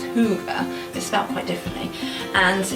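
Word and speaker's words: hygge: there's a tradition called well it's pronounced hoover is felt quite differently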